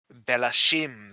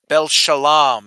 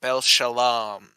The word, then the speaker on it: Bel Shalam: The only or let me make sure I'm I think it's pronounced a little different than I thought originally. Let me make sure I got it right. Of Bel Shalam is his name. Bel Shalam.